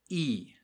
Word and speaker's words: y: before soy muy inteligente that y is pronounced e and it means and so he says soyalto